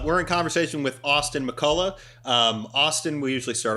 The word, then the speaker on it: McCulloh: before we get started how do you say your last name mccullough mccullough yes mcculloch i would have gone with mccloud no mccullough but honestly people butchered